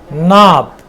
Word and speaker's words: knob: Knob.